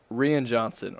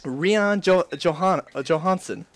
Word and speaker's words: Rian Johnson: Rian Johansson. That's an inside joke between my friends because they pronounced his name wrong. They thought his name was like Rian Johansson.